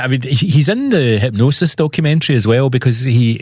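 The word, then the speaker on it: Hipgnosis: Hypnosis, but it's spelled funny, isn't it? Spelled with a G. Hi PG.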